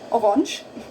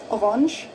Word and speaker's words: Orange: Die Karotten sind orange. Orange, orange, orange, the same word, orange. Just don't say, just pronounce it differently again. Orange, orange, orange, orange. It's more like French, huh?